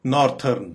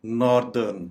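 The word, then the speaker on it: northern: नॉर्दर्न, जैसे कि हमारे नॉर्दर्न एरियाज बहुत मशहूर हैं, तो इनको आम तौर पे हम गलत प्रोनाउंस करते हैं और ये कहते हैं कि नॉर्थर्न, हालांकि इसकी करेक्ट प्रोनाउंसिएशन है नॉर्थर्न, नॉर्दर्न, नॉर्दर्न शुमाली।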